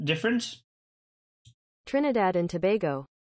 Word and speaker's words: Tobago: Trinidad and Tobago Tobago but is the American pronunciation different Trinidad in Tobago it's the same it's Tobago okay thank you